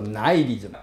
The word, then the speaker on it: nihilism: 虚无主义这个字英文要翻作 nihilism，不是 nihilism，叫做念作 nihilism， N-I 念作 I， nine， H-I 就没有音了，是不是 nihilism？